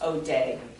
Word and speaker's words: Odet: I believe his name is pronounced Odette, because it is a French name.